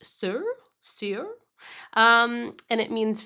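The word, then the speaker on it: Saor: like um so so I guess it's actually pronounced sir sir um and it means free and unconstrained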